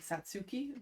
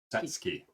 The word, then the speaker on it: Satsuki: Emily's aunt is Japanese, and her name is spelled like Satsuki, but it's Satsuki. There you go.